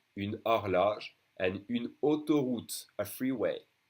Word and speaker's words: une horloge: O as in une horloge. It can be pronounced A or O. A, O. It depends. Une horloge, the H is silent for a clock. Une horloge.